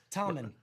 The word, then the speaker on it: Tommen: I hate being called Tom because when I I say my name like common, they hear Tom and they think it's Tom and they don't listen and think my name is pronounced Tom. Tommen. Tommen.